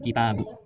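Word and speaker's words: كتابُ: Jadi yang benar ini bacanya bukan kitabi, tapi kitabu. Kenapa saya tahu alasannya ini dibacanya kitabu? Karena dia menempati mahal rafa. Dari mana saya tahu ini mah rafa?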